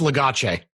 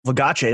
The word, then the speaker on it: Our Legacy: Ooh, it's pronounced Legace. Yeah, is it Legace? No, yeah. It's a Euro brand.